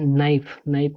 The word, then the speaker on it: know: KNOW, इसको पढ़ा जाता है नो, कन्नो नहीं पढ़ना है। के साइलेंट रहता है, इसको नो पढ़ना है।